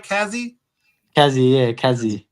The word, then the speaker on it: Kazzi: Kazzy, yeah, Kazzy.